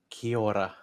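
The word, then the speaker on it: Kia ora: let's try it again kiora try and do it like a little bit of a roll of the tongue in the middle i can't see that's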